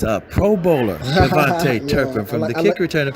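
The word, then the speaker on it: KaVontae Turpin: I said your name wrong. It's a Pro Bowler, Kavante Turpin, from the kick return and punt return.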